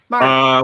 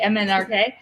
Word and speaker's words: MNRK: Kevin, tell me, MNRK. How do we pronounce that? Mark. Well, his name is Mark, so you can call him Mark.